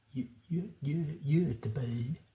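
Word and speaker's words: Göteborg: to Stockolm and uh I I really do hesitate to give the Swedish pronunciation of the word Gothberg because I'm I'm I'm bound to do a very shoddy job. But it's something like you're deb I'm very sorry that that's not exactly right.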